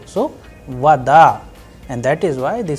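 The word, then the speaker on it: вода: But in the word vada it is rising at the end because the udar is on a not on o. So vada and that is why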